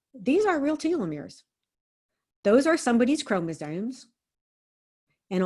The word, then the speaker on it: telomeres: chat so uh telomeres pronounce telomeres because that's how elizabeth blackburn pronounces it and if that's how she pronounces it since this is her discovery that's how i'm going to pronounce it um telomeres are